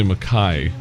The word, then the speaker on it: McKay: we started playing you it's m spelled k a y That's like Irish or uh oh uh that's right it's the Scottish pronunciation yes but nobody says